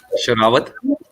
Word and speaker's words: Sherawat: Sherawat.